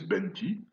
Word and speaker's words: penti: a pour la date le mot écrit penti, prononcé benti, et il est passé en nobine, donc le successeur du vieux nubien actuel, sous la forme fenti.